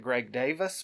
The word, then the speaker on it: Greg Davies: Though they pronounce it Greg Davis, but it's spelled Davies.